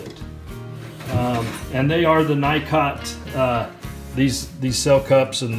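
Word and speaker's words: Nicot: and they are the night cot these these sell cups and the basis and whatnot there they're from the Nikon our Nico depending on how you pronounce it system and I like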